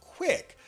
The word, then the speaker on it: Qwick: ceo and co-founder of quick that's spelled q-w-i-c-k they're a gig economy